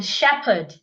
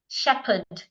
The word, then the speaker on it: shepherd: and release the sound slowly sh as in Shepherd it's not shepher Shepherd excuse me as in m as in wash